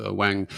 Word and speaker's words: Ng: so he suggested it's it's NG is pronounced Wang so he is the